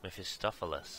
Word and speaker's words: Mephistopheles: Mephistopheles. That's how you pronounce it.